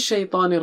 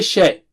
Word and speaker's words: شَيْطَان: Minas Shaitanir Rajim. We will continue with the remaining part. Shaitan. Don't say shay. Okay, it is shy. Just like in English, you say shy person, a shy person, shy.